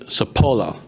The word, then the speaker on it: Sapola: They call him Doc and I make sure I pronounce his last name right. Sapola.